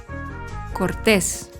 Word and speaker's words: cortés: El acento cambia la pronunciación de la palabra. Cortés.